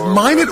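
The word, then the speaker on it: Minot: on what happened in minet North Dakota a few years ago is it minet or Mano I've heard it pronounced both ways it is min yeah but you know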